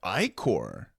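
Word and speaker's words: ichor: Is that how you pronounce that? Icor. I probably. It's I core.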